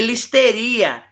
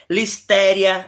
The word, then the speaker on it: Listeria: exemplos: estafilococos, áureos, clostrídium e listeria, eh, estoficolococosaurios, clostrídio, botulínio, clostrídium, tétane, listéria, Listeria, depende como você quer pronunciar.